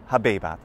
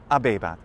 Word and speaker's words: habebat: For example, I say habebat, and you say abebat, because H's are silent in ecclesiastical pronunciation.